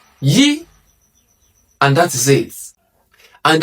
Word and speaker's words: Y: In English, it is pronounced as Y. But in Yoruba, it is pronounced as Yi. Say that again. Yi. Yi.